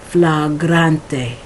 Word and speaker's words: flagrante: fla grante all right I have problems pronouncing this word in Mexico today but um um a TV show which had this word and I always had problems because I tried because I would event eventually pronounce it like in English which but it's incorrect so Piazza Los dedos